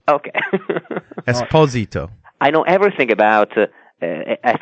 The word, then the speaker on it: Esposito: Italian way esito no exposito Esposito okay Esposito I know everything about I think an American or a Canadian hockey player very famous yeah Esposito yeah okay that's the Italian pronunciation well I will I